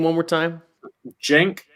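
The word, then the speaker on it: Cenk: name one more time jenk erdogan that the spelling is c-e-n-k dogan like the same last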